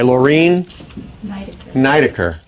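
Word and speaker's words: Lorine Niedecker: This is called Poet's Work by Laureen Nidecker. Accent on the first syllable.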